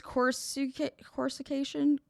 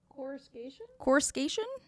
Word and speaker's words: coruscation: Corsication? What? How do you say that? Coruscation? Coruscation.